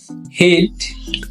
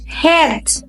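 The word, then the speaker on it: head: হিট। না, এটা হেড। ই এ combination, এখানে সাউন্ড দিবে এ, হেড।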